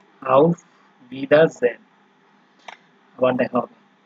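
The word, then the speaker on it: Auf Wiedersehen: আউফ ভিদারজেন, ঠিক আছে, এই যে ডব্লিউ ভি উচ্চারণ হচ্ছে, আউফ ভিদারজেন, আবার দেখা হবে।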